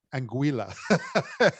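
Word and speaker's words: Anguilla: I say this right anguila you know something I was I was I was told all weekend that I was pronouncing it wrong and actually rhymes with vanilla so angua um but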